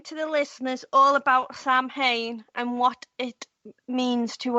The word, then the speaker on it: Samhain: She says, "How about explaining to the listeners all about Samhain and what it means to us witches?"